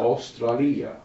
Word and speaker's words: Australia: Australia. Australia. Oh. A U. You have to pronounce them all, don't you?